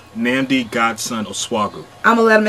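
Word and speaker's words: Nnamdi Godson Osuagwu: I want to call him cuz I can't pronounce his name. Nami Gassen Oswagu. Okay, you say your name. Nami Godson Oswagu.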